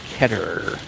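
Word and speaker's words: Keter: ketter so i've been corrected i used to pronounce it heater but it's actually pronounced ketter and here you can tell by their famous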